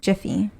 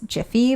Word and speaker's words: Jif: And then the next one is your favorite peanut butter, Jiffy. So everybody apparently thought it was Jiffy, but in reality it's actually Jif, J-I-F. I remember it being Jiffy and then it changed to Jif.